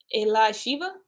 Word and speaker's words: Elisheva: Just say her name right one time. Elisheva? Yeah, there you go.